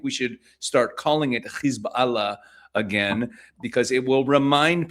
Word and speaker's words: Hezbollah: I don't like pronouncing it Hezbollah the way many people do in Western media. It's in fact a compound word. It's really two words, Hizb Allah, which means the party of Allah, the party of God.